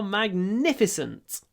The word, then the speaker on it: magnificent: Magnificent the views of the mountains are magnificent it's not really in this context I would